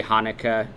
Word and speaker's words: Haneke: It's German, so it should be Haneke.